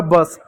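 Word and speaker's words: bus: उसी प्रकार एक और शब्द है यहाँ पर बी यू एस, बी को ब पढ़ेंगे, यू को अ पढ़ते हैं तो अ साइलेंट होगा, एस का क्या हुआ, स हो गया बस।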